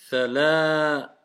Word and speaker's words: ثلاثة: ثلاثة Thalathatu. ثلاثة Donc si on s'arrête, on va dire thalatha. Thalatha. Thalathatu. Vous voyez la prolongation du lam avec le alif, ça donne la.